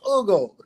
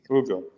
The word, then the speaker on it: Hugo: No, it's Ugo. Ugo. Oh, really? Ugo. Victor. You don't You don't pronounce the H like we do.